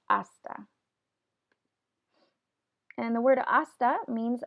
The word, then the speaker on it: hasta: once again we have the letter H here that is not pronounced you don't say hasta it's just esta and the word hasta